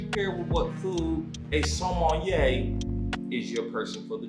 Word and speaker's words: sommelier: As we like to call it, Somali. I think that might be wrong, but it looked like that's how it's spelled. I think it's sommelier. Sommelier? Sommelier. Samoan? Sommelier, something like that. It's French. I think they say sommelier.